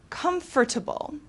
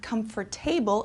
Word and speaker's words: comfortable: okay next we have comfortable okay it's not comfortable it's comfortable which means providing physical